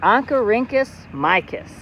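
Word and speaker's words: Oncorhynchus mykiss: scientific name of a rainbow trout is pronounced ankarincus micus and we can translate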